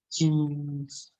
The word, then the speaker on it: 轻松: 轻松, jadi Q bacanya ada angin. 轻松。轻松。轻。轻松。